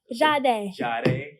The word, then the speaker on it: Jahde: So projections for the future, music wise, performing wise, what can the people expect from Jahde? Like Sade with a J.